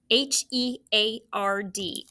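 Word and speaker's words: herd: Spell it with me. H-E-A-R-D.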